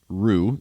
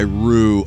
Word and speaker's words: Ruu: Today's Discord server is coming from Rue, R-U-U. Rue is how I'm going to pronounce it.